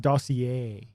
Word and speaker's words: dossier: log it's log a letter dossier oh that's pronounced dossier with the golden city emblem engraving there are